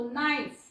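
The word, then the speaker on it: knife: नियम खूप सोपा आहे के लेटर एन च्या अगोदर जर आलं एन लेटर पूर्वी जर आलं तर के नेहमी सायलेंट असत असतो एन च्या अगोदर एन च्या अगोदर नो याचा उच्चार होतो नो याचा उच्चार होतो नाईफ नाईफ कई म्हणायचं नाही ओके किंवा इथ कनो म्हणायचं नाही तर के त्याला केला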